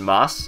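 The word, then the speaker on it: ます: in Moss mosu and it's just going to sound like moss unless you're trying to be fancy or girly or whatever so technically it's spelled with the U at the end but it's just such a common word you just drop it most of the time and sometimes there's word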